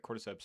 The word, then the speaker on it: cordyceps: Um cuz you're right, cordyceps and that is the correct way to pronounce it.